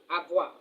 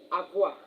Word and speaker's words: avoir: Avoir to have. So, this is the second verb that is very vital in French. Avoir. Avoir A V O I R A V O I R avoir is a verb that means to have.